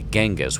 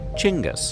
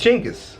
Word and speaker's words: Genghis: while most Westerners say Genghis with a hard G that's incorrect in Mongolia the G is soft so it's actually pronounced like this chingus jingis but we're gonna go